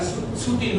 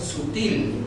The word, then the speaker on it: sutil: A ver, sutil. ¿Cuántas sílabas encontramos ahí? Dos. ¿Y cuál de ellas predomina? En sutil, ¿cuál de ellas lleva más fuerza, más énfasis? En la sílaba til. Entonces, ¿dónde está ubicada? En el último lugar.